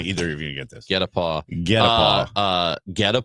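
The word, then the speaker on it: guet-apens: It's GUETAPENS, but it's pronounced get a paw.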